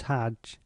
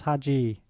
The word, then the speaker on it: Hajj: Footnote: O pilgrim, the Egyptians write the word Hajj and pronounce Hajj. In Persia, India, and Turkey it becomes Haji. These are mere varieties of form, derived from one and the same Arabic root.